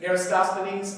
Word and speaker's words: Eratosthenes: the Civil arrest needs or Aristophanes how are pronouncing roskilly Eratosthenes okay right why don't you consider Eratosthenes because